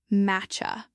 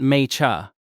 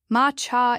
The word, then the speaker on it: matcha: The word is matcha. It sounds like matcha. Not may-cha. No. Ma-cha is closer.